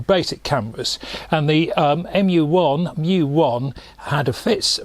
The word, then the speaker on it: mju: something called the mju it's about um i think pronounced mu um u1 which was a